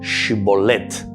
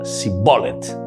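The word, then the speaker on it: שיבולת: Si él respondía que no, lo obligaban a pronunciar la palabra Shibolet, pero él decía Sibolet porque no podía pronunciar correctamente.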